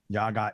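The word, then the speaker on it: Jaga: his band it's called uh your guy assist spell that it's j-a-g-a right and space and like jazz and i-s-t yaga is okay yeah just like you said it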